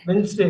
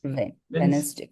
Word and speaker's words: Wednesday: Wednesday, D, Wednesday. வென்ஸ்டே, வென்ஸ்டே, வென்ஸ்டே. இங்க ஒரு டியை கட் பண்ணுங்க. Vance, Vance, Vance, Vance. Wednesday, Wednesday, Wednesday, Wednesday.